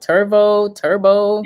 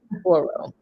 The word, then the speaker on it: Turo: So, I'm saying the name wrong. I'm like turbo, but it's Turo, right?